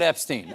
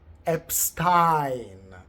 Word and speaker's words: Epstein: In German, the letters I E together make the sound E, whereas the letters E, I make the sound I.